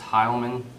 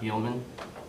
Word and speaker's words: Heilman: Last name is pronounced Heilman, not Heilman.